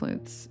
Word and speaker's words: Lutz: Um my last name people mispronounce it all the time as Luts. But that's not actually my last name. So Jay would be like, "Hey de nuts." And I'm be like, "That'd be really funny if my last name was Lutz." But like find something that rhymes with Loots or you're just like not even clever.